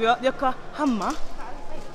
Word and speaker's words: Yokohama: Welcome to Yokohama. You have to say it right, love. Yokohama.